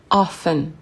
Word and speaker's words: often: Souvent, often, often. Et oui, on ne prononce pas le T.